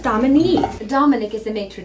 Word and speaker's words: Dominique: Oh, kids, everyone likes Dominic. She's a very likable lady. Dominique, Dad. It's pronounced Dominique. Dominic is the maitre d' at Luigi. Okay, Dominique.